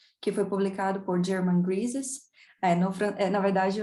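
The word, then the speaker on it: Grisez: foi publicado por German Grises. Na verdade, o nome dele é francês, seria Griset, com o Z mudo, mas eu acho tão bonitinho, Grises, então a minha pronúncia brasileira eu não abro mão dela.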